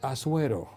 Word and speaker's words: Asuero: Su nombre es difícil de pronunciar. Para nosotros es Asuero.